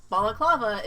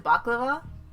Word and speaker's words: balaclava: at them, and like balaclava is really close to baklava. That's why I keep struggling with the word, because I keep wanting to say baklava, but I know that's not how it's said.